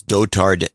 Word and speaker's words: Dotard: It's Dotard Ted. Rhymes with retarded.